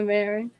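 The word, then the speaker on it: Merrin: Mira, I don't know how to pronounce her name correctly. Marin? Yeah, Marin.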